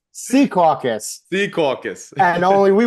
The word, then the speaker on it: Secaucus: It's not Secaucus, it's Sea Caucus.